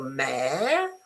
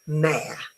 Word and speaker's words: mayor: Do you pronounce it M as in moon and as in air, so mayor, or mayo? Mayo? Are you sure? It is a this is the pronunciation. It's mayor.